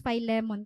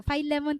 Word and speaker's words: Philemon: so ikaw mo kakhanan pag pagpronounce f lemon kay most mga sermons nga ako nababatian f lemon talaga niya pag-pronounce so f lemon kita na direta philemon sige so let's start